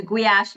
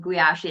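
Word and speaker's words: Gulyás: With the Gyulaffy, we can work a little bit on it. I I you know, it's it's surprising how difficult Gyulaffy is for pronunciation even though it's the soup, like the goulash soup.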